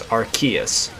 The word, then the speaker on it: Arceus: of the game it's arceus and if you're referring to it in japanese it's arseis um puckman so i